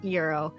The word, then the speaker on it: gyro: Today, we're taking a look into the history of the often mispronounced Euro.